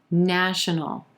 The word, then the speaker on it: national: resolution number 12 national national three syllables here emphasis on the first syllable and the ah as in black vowel sound national our second and third syllables are going to be very quick in contrast to that emphasized first syllable national national we've got an inconsonant into the dark l sound at the end of this word no no national she's